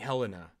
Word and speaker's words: Helena: I just want to make sure we're pronouncing Saint Helen's name. Saint Helena, yes.